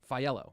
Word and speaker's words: Faiello: Faiello, that's how you pronounce it.